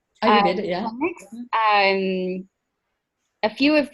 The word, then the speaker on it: Ayurveda: Ayurveda? Ayurveda, yeah.